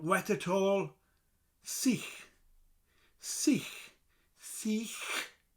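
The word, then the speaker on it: sych: Seech. Seech. Seech. So C and the h at the end of it.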